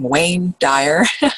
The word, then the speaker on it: Wayne Dyer: Duane or waned walk i always say his name wrong wayne dyer there we go and um welcome Herron to